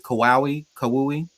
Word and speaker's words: Kauai: Kauai, um, Kawhi.